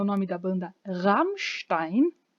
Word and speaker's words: Rammstein: o nome da banda Rammstein. Não é Rammstein, não é Rammstein, é Rammstein.